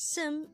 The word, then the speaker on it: 습: a neon character and that's why it is pronounced as Sim instead of s so with that you just